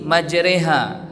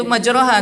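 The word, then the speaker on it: مجريها: sampai kepada imalah ya kalau kita baca Bismillahi majreha harusnya bacanya itu majraha tapi karena ada imalah maka bacaan garib di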